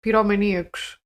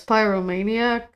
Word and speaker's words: pyromaniac: people are just um how do you say it in English pom Maniacs oh it's pyromaniac well that was easy there are some people